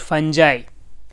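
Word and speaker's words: fungi: the following statement about फंजा how many of them is are true फंजा को कुछ लोग फंगई भी कहते हैं यह डिपेंड करता है कौन किस तरह प्रोनाउंस कर रहा है तो फंजा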